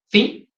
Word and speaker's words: phi: Yo voy a hablar un poco más a detalle de este parámetro phi, y lo voy a colocar acá. Esto se lee phi.